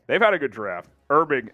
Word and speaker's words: Herbig: had a good draft irbing H is silent there they're big yep uh